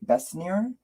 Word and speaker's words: Besnier: It's Marie Besnier. So B-E-S as in Sam, N-I-E-R.